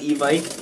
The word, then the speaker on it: Evike: Going off reviews on e-bike, I guess it's pronounced Evic, I heard, I didn't know. It shouldn't end in an IKE if it's not Ike.